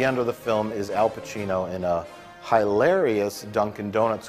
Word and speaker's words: Al Pacino: of the film is Al Pacino in a hilarious Dunkin Donuts commercial yessum dancing and singing a song because Al Pacino rhymes with cappuccino or something something so